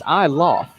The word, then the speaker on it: Iloff: Actually, Andre, it's Iloff is how you say Andre it. Iloff.